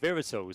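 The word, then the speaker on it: Wera Tools: It is German. So, so that is why the the W is pronounced as a V. Exactly. Verols.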